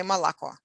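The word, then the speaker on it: молоко: e ah for example the word milk is spelled mo lo ko all o's that's not o it's all but in speech we say malacca almost like i instead of o except it's shorter that sound that is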